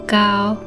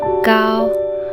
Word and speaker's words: 高: The second one, we put first tone, gao, which means tall or high.